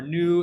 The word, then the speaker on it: nu: that they come between zero and one this new character right here that thing pronounced new in you this thing here pronounced